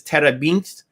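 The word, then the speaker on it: terebinth: It may tell you another pronunciation. In this case, it's terabinth, right?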